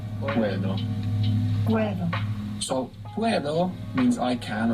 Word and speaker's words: puedo: P-U-E-D-O. Puedo. You're probably noticing as well that the D is quite soft when it comes in the middle of a word in Spanish rather than a hard D. Puedo.